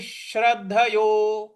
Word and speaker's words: श्रद्धयोपेतो: तो ये हो जाएगा अयतिश अयति श्रद्धयोपेतो अयति श्रद्धयो। यहाँ पे जो द है उस पर हमको आघात देना है। श्रद्ध श्रद्ध ऐसे बोलना है।